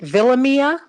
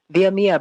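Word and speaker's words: Villamia: particular way today oh is it villa mia thank you i don't want to mispronounce it because i sure was going to call you via mia but thank you for the correction thank you that's fine that's the spanish pronunciation so either one is fine well yeah well you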